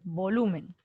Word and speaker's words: volumen: luz en la luz vamos a ver volumen tú dices volumen volumen o volumen volumen entonces la fuerza debemos estar en luz en la penúltima muy bien vamos con